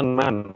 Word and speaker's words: none: Sebenarnya itu bacanya nan, bukan none.